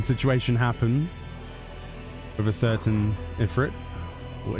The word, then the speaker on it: Ifrit: where a certain situation happened with a certain Ifrit, or Ifrit, depending on your pronunciation.